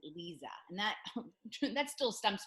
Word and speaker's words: Liza: And today I have Liza, and she spells it Lisa, but she pronounces it Liza.